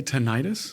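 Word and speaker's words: tinnitus: What about uh tenidis, by the way, is that the way it's pronounced or is it tonitis? Most people say tenitis. Okay, emphasizing the itis, the inflammatory part of it.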